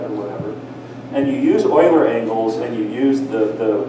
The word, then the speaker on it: Euler: By the way, it's pronounced Euler, not Euler. That's what I get for being a German speaker.